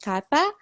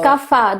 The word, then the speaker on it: Kapha: I'm gonna ask you how to say it because I see people saying kapha and people saying kappa. It's So kapha. The ph makes a fur.